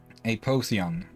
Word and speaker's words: Apotheon: Apotheon.